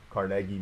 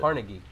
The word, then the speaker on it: Carnegie: Oh, how would you pronounce it? Carnegie. Oh, how did I say it? Carnegie. Oh, I guess. No, but I don't know. I might be wrong. Carnegie, like Carnegie Hall.